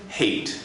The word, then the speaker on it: Haight: Haight, and that's pronounced like Haight-Ashbury for the older generation.